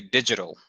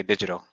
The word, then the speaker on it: digital: know we say um so we'll say digital and it almost sounds like a d sound g geez like a